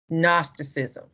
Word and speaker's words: Gnosticism: looking word isn't it don't pronounce the g gnosticism okay what is gnosticism